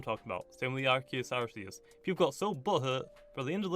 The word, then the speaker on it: Arceus: now since the official name for that, or pronunciation for that is Arceus now.